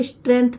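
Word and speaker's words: strength: सबसे बड़ी स्ट्रेंथ है इसको स्ट्रेंथ पढ़ा जाएगा। यस और टी दो कंसोनेंट है आपको बहुत बार और सभी क्लास में मैं आपको बताती हूं। इसको आधा सा पढ़ा जाएगा।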